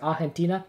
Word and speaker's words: Argentina: we would be in like argentina oh sorry argentina that's how you say it um but i'm